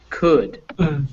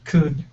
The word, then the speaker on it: could: vowel is that uh could could could and basically all the words that end like this o u l d they're all pronounced like that so could should is